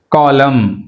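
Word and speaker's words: column: కాలం, కాలం ఏమైంది ఇక్కడ మళ్ళీ ఎన్ అనేది సైలెంట్, కాలంలో ఎన్ అనేది సైలెంట్, బట్ ఇక్కడ మళ్ళీ ఐఎస్టీ యాడ్ చేయడం వల్ల ఏమవుతుంది అంటే కాలమ్నిస్ట్, కాలమ్నిస్ట్ అంటే ఎన్ అనేది ప్రొనౌన్స్ చేయాలి, రైట్.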